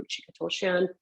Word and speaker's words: Ruchika Tulshyan: start off a meeting, I'll make sure I'll pronounce my name, Ruchika Tulshyan.